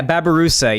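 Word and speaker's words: babirusa: or something like a babarus or something. Yeah, Babarusa. Yeah, there it is. Yeah. Yeah, I knew it had Babaroo in it. I was missing the last syllable there, but I was close.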